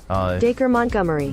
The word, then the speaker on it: Dacre Montgomery: Here is Michaela talking about what she did when she thought she was being romanced by, how do you pronounce his name? Dacre Montgomery.